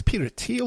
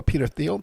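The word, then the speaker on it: Peter Thiel: with the Peter theal I don't know if it's Peter teal or Peter theal but I hear people um use both the pronunciations so we got along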